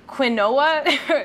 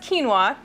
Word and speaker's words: quinoa: Uh, it's spelled qu ui n o a, which looks like quinoa.